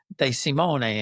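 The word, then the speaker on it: De Simone: And the other thing is you pronounce every vowel. So you know if it's a if there's a you know like an I and an E together like uh you you have to pronounce the I and E, you know. So like again like your your name would be would be de Simony in Italian, right?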